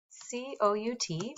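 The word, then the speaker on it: cout: braces I'm going to type c-o-u-t pronounced C out then two less than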